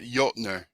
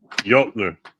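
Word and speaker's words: Jötnar: If I bet you it's pronounced Jotner. Yes. Jotner. Yes. Yep. Like from the Giants of Jotunheim.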